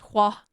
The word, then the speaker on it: Juan: It literally is pronounced Hua.